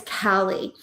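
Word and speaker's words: Caleigh: And everybody said it wrong. And I watched my poor child her entire life go, "No, it's Callie."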